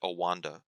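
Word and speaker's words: OANDA: Olson and Associates, and so they took that O and A, but then they started pronouncing it Owanda.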